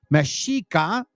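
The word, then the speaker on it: Mexica: This was a time when the mashika that's right pronounced mashika and meoamerican tribes were establishing their source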